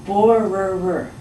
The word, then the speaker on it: borrower: This word is a little bit difficult to pronounce. We say borrower, so borrower.